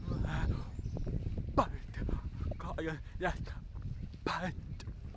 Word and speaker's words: Butte: This place is called Red "Butt" Garden. Yes, "butt". I'm just pronouncing it "butt" even though someone told me it is "BOUT".